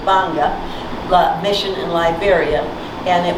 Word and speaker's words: Gbarnga: i heard about the i pronounce it gabanga and i'm wrong it's simply banga mission in liberia and